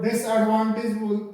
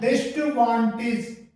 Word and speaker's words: disadvantage: ऐसे एक स्पेलिंग है DISADVANTAGE, तो इसको कई बार अलग अलग तोड़ करके, जैसे डिस और एडवांटेज, इस तरीके से इसको तोड़ करके और डिसएडवांटेज बोल दिया जाता है, जो कि गलत है। और इसका सही जो प्रोनाउंसिएशन डिस्टवांटेज, डिस्टवांटेज, इस तरीके से इसका प्रोनाउंसिएशन होता है, डिस्टवांटेज, इस तरीके से, ये सही है।